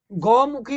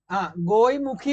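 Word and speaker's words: ഗോമുഖ്: ഗോമുഖി എന്നും പറയും, ഗോയ്മുഖി എന്നും പറയും, ഗായ്മുഖ് എന്നും പറയും. അത് കേൾക്കുമ്പോഴേ അറിയാൻ പറ്റും നമുക്ക്. അത് ഈ പല പേര് ഉച്ചാരണത്തിന്റെ ഒരു ഇഷ്യൂസ് വരുന്നതാണ് കേട്ടോ. ഉച്ചാരണത്തിന്റെ ഇഷ്യൂസ് വരുന്നതാണ്.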